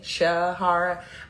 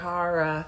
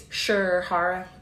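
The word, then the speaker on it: Sherhara: interesting thing about it when I say my name it usually sounds like sh like sh Shahara but it's sure Shara but I don't always say sure you know I I'm like my name is Shara I just say Shahara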